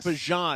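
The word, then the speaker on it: Bijan: You're saying his name right. We had a clip on it. It's Bjon. Bjan. Not It's not It's not rhyming with mustard.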